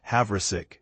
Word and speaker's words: Havrisik: They've added kicker Lucas Havverick, pronounced Havik to their active roster,